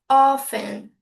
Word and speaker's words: often: A pronúncia americana, eles eliminam o T, então fica often.